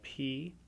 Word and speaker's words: Poisson: It's spelled P-O-I-S-S-O-N.